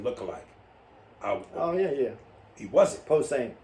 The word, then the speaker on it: Posehn: Posehn. Posehn. Is that how you say that? Yeah. I never knew how to pronounce his last name.